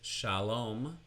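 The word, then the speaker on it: שלום: So we have the example of this is Shalom, Shalom, starting with an open syllable, Sha, your mouth stays open, just one consonant in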